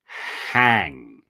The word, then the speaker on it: hang: something it's when you hang up your clothes and you just leave it so that's the origin of the word now the pronunciation here is the H has an exhalation right hang so when you pronounce